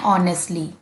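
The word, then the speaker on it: honestly: एच बच्चों silent रहेगा। ओ से बोलना है ऑनेस्टली।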